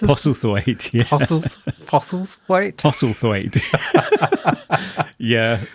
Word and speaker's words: Postlethwaite: And it stars James Purefoy, Max von Sydow, Rachel Hurdwood, Pete, I can't pronounce his name, Postlethwaite? Is that how you pronounce it? Postlethwaite, yeah.